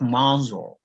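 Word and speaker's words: Mansur: Please, how do I pronounce that correctly? Are you referring to me? Yes, please. Okay, Mansour, not Mansour.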